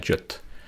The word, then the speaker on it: JWT: sur jot ao JWT souvent les anglophones il prononcent ça jot REC don hop qu'est-ce